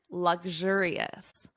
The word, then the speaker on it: luxurious: Notice the pronunciation, luxurious.